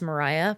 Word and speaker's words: Mariya: Uh my name is spelled funny. It's Mariah, but it's M A R I Y A.